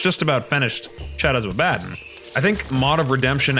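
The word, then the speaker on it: Abaddon: And I got yelled at enough by everybody that evidently it's not Abdon, it's Abaden.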